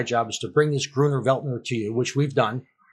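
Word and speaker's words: Grüner Veltliner: Gruner Veltner. Gruner Veltner.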